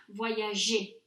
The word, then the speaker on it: voyager: Again, the explanation is traced to the pronunciation, because if you hear the infinitive, voyager, that's a soft G, j'ai voyagé.